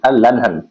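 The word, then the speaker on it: Erlangen: of surgical clinic eight N लहन याद रखिएगा इसको ऐसे ही प्रोनाउंस करेंगे एल लहन ठीक है कहते हैं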